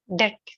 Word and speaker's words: debt: silent letters and d-e-p-t the B is silent debt debt not debt from